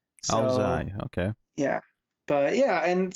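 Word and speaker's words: áo dài: But it's pronounced apparently Ao Zai, and it's Vietnamese. So, Ao Zai, okay.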